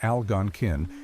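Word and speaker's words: Algonquin: The Alangan, pronounced Algonin, meaning possibly at the place of spearing fish, were the original bearers of the broader Alangquan language family name.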